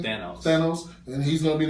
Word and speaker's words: Thanos: Thanos.